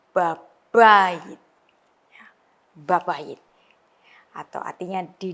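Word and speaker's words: בבית: Ya, B-nya ini weak, yang kedua itu strong, jadi babayit.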